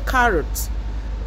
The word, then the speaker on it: carrot: is with sure sound you don't stress the last syllable the stress is on the first syllable okay so it's pronounced